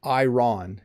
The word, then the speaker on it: iron: This is a hard word for English learners to pronounce. It's not iron, it's iron, iron.